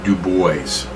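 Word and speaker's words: Du Bois: be w e-- B and his name is pronounced Dubois that's a correct pronunciation of his name not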